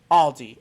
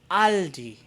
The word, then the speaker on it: Aldi: the s belongs but when you're talking about a singular one one one aldi it's just aldi or with the german pronunciation aldi i hope this helps